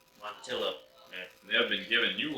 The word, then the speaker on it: Montilla: of our Coopers and Matilla, Spain, Montella, I don't know. I go with that. Pronunciating words is not my, here, you read it. Not my forte. Montilla. Montilla.